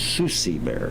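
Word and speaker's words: Succi: and so on and so forth, we have Susie Bear, S-U-C-C-I, Susie Bear. We had a child years ago that had trouble pronouncing Susie, so it becomes Susie.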